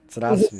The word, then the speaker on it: Здравствуй: Здравствуй. Z. Z in the beginning. It's "Здравствуй." Stratsvi.